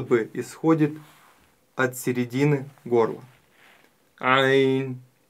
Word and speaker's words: ع: исходит от середины горла Ань а Попробуйте повторить Ань также буква айн относится к мягким буквам и не стоит её произносить твёрдо ойн мы её произносим мягко ай ай